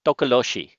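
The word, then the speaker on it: tokoloshe: Here in South Africa, we got something called the tokoloshi. Can you pronounce that, Ed? Tokoloshi. Takaloshi.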